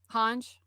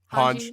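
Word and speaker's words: Hange: Hanj, Hanji, yeah, yeah. however you want to pronounce her name. I hear it both ways.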